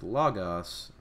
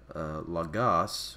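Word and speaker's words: λόγος: So right here, for example, with logos, rather than saying logos, we say logos because the accent is on the first omicron there rather than the second.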